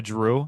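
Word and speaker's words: Jrue: Drew.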